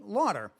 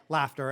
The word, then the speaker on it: Laughter: And so I went with a pronunciation Lauder. And Lauder sounded much better than Fuck Up. And so life went on, and then I got married. And my wife, who took on my name, thought that I was completely psychotic for using the pronunciation Lauder when it was spelled Laughter.